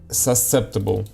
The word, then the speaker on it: susceptible: While these particular examples gained widespread public mention, most language models are susceptible. How do you pronounce success? Susceptible, right? Susceptible. Susceptible. Okay. So, you don't read C.